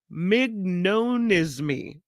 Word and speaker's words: mignonisme: They stem from this artistic movement called mignonisme. Well, I'm saying it wrong. Mignonisme. Mignonisme. Yeah.